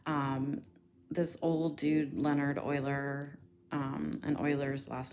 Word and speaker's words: Euler: in steepness between them and yes that is pronounced euler it is not pronounced euler it does not rhyme with ferrous bueller although